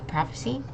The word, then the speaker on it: prophecy: of the future and the p and the H notice how it's like making F sound prophecy and again emphasizing on that first syllable okay next we have